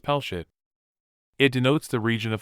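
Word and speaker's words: פלשת: of the Israelites philistia the Hebrew word is pronounced pelshit it denotes the region of philistia an ancient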